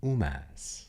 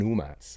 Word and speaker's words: hummus: you know simple veggies and UMAS shout out to The Love Guru all right that's how I learned how to pronounce hummus correctly um all right shout